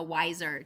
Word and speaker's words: Weiser: LinkedIn Weiser Wei my business is be the wiser W ier it's a play on my last name M uh nobody ever pronounces it or spells it correctly so my father always told me you're never going to win so I figured I'd go with how to pronounce it correctly um and I'm also